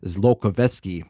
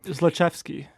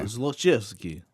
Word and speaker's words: Zlochevsky: million that allegedly belonged to Burisma's owner, Mykola Zlokovetsky. Again, I have no idea. how to No, pronounce it's his pretty name. close. It's close, yeah. Zlochevsky. Okay. Zlochevsky.